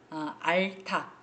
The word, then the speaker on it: 앓다: 쓰레기로 지구가 몸를 알다 알타 발음은 앞에 건데요 쓸 때는 뒤에 게지 알타 뭐 아픔 알다 아